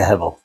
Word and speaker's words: Hevel: I'll just stick to Hevel, the Hebrew proper pronunciation.